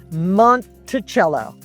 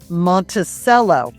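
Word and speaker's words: Monticello: So Rio, R I O is pronounced like the bread. Rio road. Rio road. Montichello. Thomas Jefferson's little mountain home. Montichello. Many people will ask and think it's pronounced Monttoello, which it looks like, which it should be,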